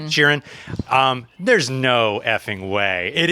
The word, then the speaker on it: Sheeran: Sheeran.